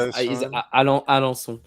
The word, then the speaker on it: Alençon: Yeah, I would say the pronunciation is Alençon. Okay.